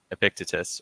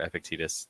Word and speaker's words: Epictetus: So one of the big Stoic uh, authors out there, the one for whom Stoicism was actually named, uh, Epictetus, or Epictetus, names pronounced some different ways.